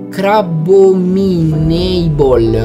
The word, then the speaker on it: Crabominable: Si pronuncia Crabominable.